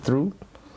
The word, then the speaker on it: through: Yeah, it's like how the G is Imbroglio. also silent in what is it, through?